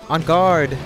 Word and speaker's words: en garde: On guard! That's how you say it.